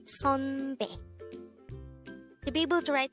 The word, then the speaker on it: 선배: by a neon character again it's not sunbe with an u sound but it's sunbe with the a sound next for the second